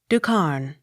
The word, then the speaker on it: Duchesne: The WY takes the sound of U, the accent on first syllable. Duchesne. Ducarne.